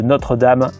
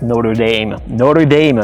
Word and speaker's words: Notre-Dame: Donc là c'est l'université catholique de Notre-Dame. Les Américains prononcent Notre Dame, mais bon c'est Notre-Dame, mais on va dire Notre Dame, parce que c'est comme ça qu'ils le disent.